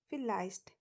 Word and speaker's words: vielleicht: In German, it is pronounced as V. In English, we pronounce it as V, but in German, V is pronounced as V and it has the sound of F.